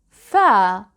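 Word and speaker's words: فاء: And now, fa. Fortunately, this letter is very easy to pronounce. Let's watch the shapes anyway. Fa is the equivalent of the letter F.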